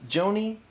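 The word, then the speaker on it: Gjoni: hers named aaron joni the last name is spelled g-j-o-n-i so i'm assuming or presuming that it's joanie um posted something called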